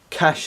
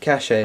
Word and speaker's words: cache: it's all about the cash yet he was pronouncing it caches like dude it's pronounced cash and he was like no and he's just really adamant that was pronounced the cachet is what a great